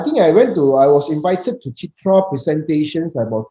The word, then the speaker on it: CIITRA: This, am I pronouncing it correctly? Chitra Award? Yes. CIITRA. Yeah, I think I was invited to Chitra presentations about 2 years ago.